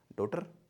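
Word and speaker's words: daughter: डॉटर? इट्स डॉटर। पहले वाले part पे stress, डॉटर, डॉटर। एंड इफ you talk about American English that is डॉटर, डॉटर।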